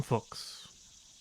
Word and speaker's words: Fuchs: It's Fuchs.